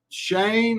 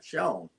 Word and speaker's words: Shawn: buster and we got shane i don't know how to pronounce your last name shane well let's just start by pronouncing my first name right sean sean okay i'm sorry i've